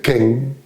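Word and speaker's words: 見: En la tradición zen, en japonés, en lengua japonesa, se diferencia claramente la observación convencional, que se dice ken, y se escribe de una determinada manera.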